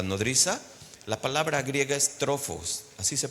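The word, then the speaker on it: τροφός: La palabra griega es trofos, así se pronuncia, trofos con pH, tropos.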